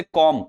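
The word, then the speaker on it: comb: एम के बाद बी लिखा है, बी पढ़ना ही नहीं है। जैसे कॉम्ब इसको कॉम्ब पढ़ते हैं। कॉम्ब कॉम्ब नहीं पढ़ते। लोग कॉम्ब पढ़ते हैं ना? कंगा कॉम्ब। अरे भाई कॉम्ब नहीं पढ़ना है। इसको कॉम्ब पढ़ना है।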